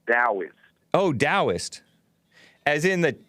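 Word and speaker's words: Taoist: your dallas area no not dallas i said daoist oh daoist as in that like no it's spelled talbot like taoism but it's pronounced taoism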